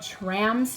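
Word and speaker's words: Traams: in this box is by a band called trams t r a a Ms yes I said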